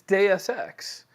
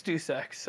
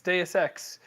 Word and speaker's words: Deus Ex: no it's it's it's deus ex as in x i don't think it's due sex i think it's deus ex as in deus ex machina i don't know how